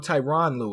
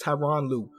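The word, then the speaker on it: Tyronn Lue: And Tyrone Louu or Tyron Lou is how I pronounce it. A lot of people say Tyrone. It's Tyron Lou wins coach of the year.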